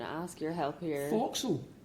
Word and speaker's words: forecastle: Forecastle. Forecastle, alright. Yeah, when I saw that in the script, guys, I hadn't a clue how to say it. A lot of apostrophes. A lot of Forecastle. Okay. Forecastle, yeah.